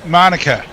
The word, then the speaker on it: Manuka: reasons house I think in Monica Monica are we pronounce it local knowledge thank you Messi well